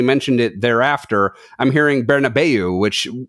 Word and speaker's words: Bernabéu: it thereafter, I'm hearing Bernabu, which with the way that it's spelled and where the accent is is how I would pronounce that given no other information.